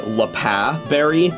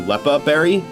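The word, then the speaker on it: Leppa: For the record, that's also why I pronounce it the lea berry rather than the lepa berry. Uh because it's an anagram of apple.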